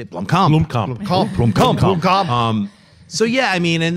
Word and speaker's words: Blomkamp: Blomkamp.